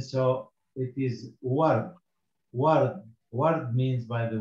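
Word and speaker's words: وَرْد: And the last letter here is dal, also as a silent, so it is ward.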